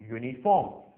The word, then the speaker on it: uniform: से शुरू होता है, लेकिन फिर भी इनके आगे एन नहीं लगाएंगे क्योंकि ये शब्द जब शुरू होते हैं तो य से शुरू होते हैं, ना कि वावल यू से।